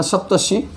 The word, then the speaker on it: सप्तर्षि: तो अभी इसको ऋषि बनाएंगे शी ये बना सप्तर्षि तो ये बना सप्तर्षि सप्तर्षि। र को पहले उच्चारण किया फिर आकर नीचे आंसर आया सप्तर्षि।